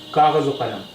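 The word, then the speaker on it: کاغذ و قلم: Kaghaz o Qalam. The paper and the pen. Kaghaz o Qalam. Here Vaw means and. So it is being pronounced as O.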